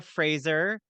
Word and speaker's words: Fraser: grandparents I don't know somehow it morphed into Frasier but it is actually pronounced Fraser it's like Brendan Fraser who I have to